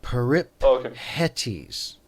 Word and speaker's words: Peripetes: It would be peripetes.